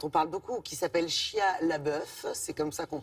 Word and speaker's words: Shia LaBeouf: Des acteurs, dans la majorité, tous non professionnels, sauf peut-être cet acteur américain dont on parle beaucoup, qui s'appelle Shia LaBeouf. C'est comme ça qu'on prononce son nom, que vous avez vu dans